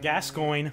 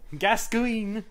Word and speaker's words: Gascoigne: It'll be people so in the I'm like, that'll well, Gascoigne. Gascoigne. Gascoigne. I mean, let's be legit. It's Gascoigne. Pronounce it like lasagna. Something.